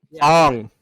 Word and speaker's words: Aang: to pronounce Aang's name right. Ong.